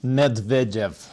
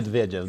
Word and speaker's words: Medvedev: president of Russia, which is, I let you pronounce his name. Medvedev. That's very, yeah. Medvedev.